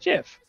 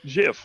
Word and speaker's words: gif: tumblr and then the the creator of it saying it's pronounced jiff like the J and then [ __